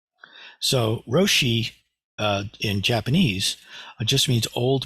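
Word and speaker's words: 老師: Anybody here know the Japanese pronunciation of Lao Tzu's name? Roshi. So Roshi in Japanese just means old master.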